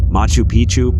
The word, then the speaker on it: Machu Picchu: that as well four Machu picu Peru when a place rhymes with pictures you can almost bet